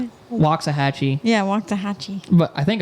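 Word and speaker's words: Waxahachie: Um, it sounds like chhattahooi. Yeah, it sounds exactly like the same thing. Yeah. Wa chata. Yeah, it just ends with a chi.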